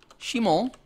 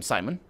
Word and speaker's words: Shimon: And this guy is going to be called Shimon. That's how it's pronounced. You're going to call him Simon.